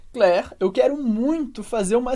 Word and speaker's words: Claire: do francês primeiro que as letras a i como Regra geral vão dar o som e como se fosse em português escrito com a letra e é por isso que a